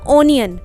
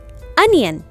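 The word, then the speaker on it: onion: हां बचपन से हमें बताया गया है ओनियन पर दैट इज रंग pronounce एशन okay it's correct pronunciation is अनियन अनियन okay next vegetable है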